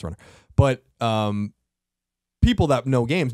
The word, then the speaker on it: Run/r: It's Run/R, by the way, but it's pronounced Runner.